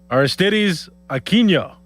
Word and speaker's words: Aristides Aquino: That's what I Try it one more time. Aristides Aquino Closer. Aristides Aquino Nailed it. There's no tilde on there.